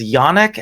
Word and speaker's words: yonic: need to say that I always pronounce that word yonic and only recently discovered that everyone says yannick and yanni, which is unfortunate because yanni is my mother's name.